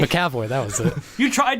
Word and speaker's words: McAvoy: McAvoy. McAvoy, that was it. You tried to pronounce it wrong, and you did it right.